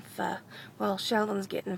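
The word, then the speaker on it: phở: I have a hard time with pronouncing that because it sounds like I want to say a dirty word. I always want to call it pho, it's more comfortable. But no, we're getting pho.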